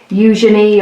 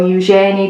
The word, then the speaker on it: Eugenie: So today Princess Eugenie, or Eugenie, depending on how you want to pronounce it, I think it's Eugenie, although I've heard very many variations on a theme today as it's been kind of broadcast.